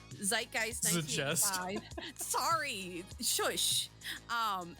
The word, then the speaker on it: Zeitgeist: the music uh zid jess is how's your pronounce zeitgeist zeitgeist good chess sorry shush um and then here's